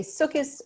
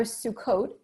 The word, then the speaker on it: Sukkot: Even pronunciations, whether you say Sukkos or Sukkot, correlates with denomination.